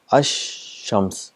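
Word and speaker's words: الشمس: so what happens is the AL is written it becomes silent and the sound of shen is doubled there Ash Shams the two times it's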